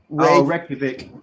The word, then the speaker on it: Reykjavik: Reykjavik.